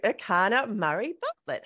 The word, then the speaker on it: Erchana Murray-Bartlett: And let's dive into this conversation with Erchana Murray-Bartlett. Enjoy. Today on FitMIND FitBODY, I am super excited, like really excited, like a little kid excited, to talk to Erchana Murray-Bartlett.